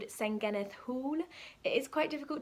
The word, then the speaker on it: Senghennydd: at cardiff university called saingenith hall it is quite difficult to pronounce at first i was like didn't know how to pronounce it but then my welsh flatmates told me it's pronounced saint geneth so this is a